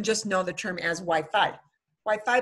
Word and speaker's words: Wi-Fi: know the term as Wi-Fi Wi-Fi but we fee you know if he say they say we feet and everybody does it as we fee in Spain so that is way